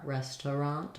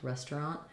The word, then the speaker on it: restaurant: or restaurant um yeah it's kind of confusing because it looks like it should have a little bit more there with that Aur restaurant restaurant but in many cases where it's not an important syllable we can reduce down to two restaurant similar to words like groceries versus groceries interest or interesting versus interesting there's many places where